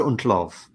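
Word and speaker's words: Schmeichel: Look, as someone who remembers this season quite better than anyone should remember something that happened 30 years ago, it's Peter Untlov is how you pronounce it.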